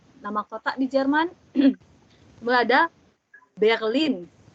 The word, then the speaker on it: Berlin: Ada Berlin. R-nya Jerman tuh ya. Berlin. Ya, Berlin. Kemudian ada cafe.